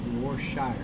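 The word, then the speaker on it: Worcestershire: cheex mix Vibe is easy way to say that Worchester Shire just say warshire but it's spelled Worchester Shire but it's easier just say warshire but it's War Chester Shire it's easier to say warshire it's Mr baggin we're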